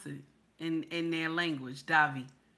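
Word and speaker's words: Devi: Debbie. And the name in the middle is not Debbie, it's Davi. That's how they pronounce it in their language, Davi.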